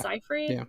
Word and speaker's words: Seyfried: But I know Amanda Seyfried. I think that's how you say her name. Is it Seyfried? Yeah.